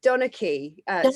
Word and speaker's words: Donachie: Is that how you pronounce it? It's Donachie. Donachie. Yeah. But it's spelled like Donachie.